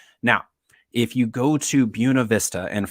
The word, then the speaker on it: Buena Vista: to buna vista and first thing you need to know if you get to buena vista is that's how you say it i know that's not what your spanish teacher in high school taught you and your spanish teacher in high school was correct if we're talking about a beautiful view but